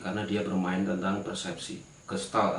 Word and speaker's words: Gestalt: dia bermain tentang persepsi kristal atau biasa kalau diucapkan Sara secara pengucapan itu kesal padahal kata Jerman yang berarti bentuk esensi atau